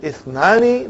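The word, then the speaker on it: اثنان: Is it Hamzatul Qata or Hamzatul Wasal? It is Hamzatul Wasal. We have to take note of it. That Ithnani, the Hamza is Hamzatul Wasal. If it is, if it comes in the beginning, it is pronounced. If it doesn't come in the beginning, then it is assimilated.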